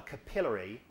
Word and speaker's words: capillary: When you've got a capillary, yeah, and that's the right way to say it, not capillary, but capillary.